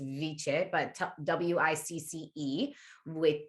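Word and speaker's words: wicce: it meant wisdom it was spelled w or pronounced viche but w-i-c-c-e with viche which in the old germanic languages which really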